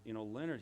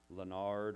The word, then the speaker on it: Leonard: His name, he just said to pronounce it Leonard. It's different in French, Leonard or something, but Leonard and Blanca, and they're a couple, and they're going to be getting engaged.